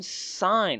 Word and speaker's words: Sein: is returning I am sign that's how I pronounce it it might be pronounced something else s sign but I like to pronounce it sign makes me think of Seinfield you know I am